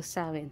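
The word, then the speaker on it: Samhain: sa mga ah nagce-celebrate ng samain Paano ba bigkasin yit saen so sawin so sa mga nagce-celebrate ng sawin happy sawin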